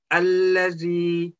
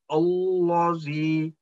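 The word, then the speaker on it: الذي: And all other lam apart from in word Allah, always, always thin sound. Like allazi, we will not say allazi, that will be wrong. Allazi illa udallil muttaqin. This all lam will be pronounced as a thin sound.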